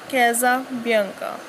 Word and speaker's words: Casabianca: So how we can pronounce it? Casabianca.